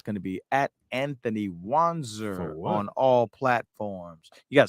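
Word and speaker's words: Wanzer: to be at Anthony wanser on all platforms you got spell it form Pam that's Anthony w-a-n-z-e-r on Instagram spell like it sounds Facebook you know what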